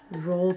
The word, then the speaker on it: Roald: I always want to say it's like Roland, but it's not.